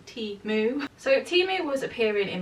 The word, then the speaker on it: Temu: am teaming up with timu for this portion of today's video and yes guys I did learn how to pronounce it properly it is tea moo so timu was appearing